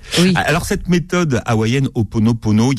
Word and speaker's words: Ho'oponopono: Alors, c'est Ho'oponopono. Comment vous prononcez-vous? Oui, on dit Ho'oponopono.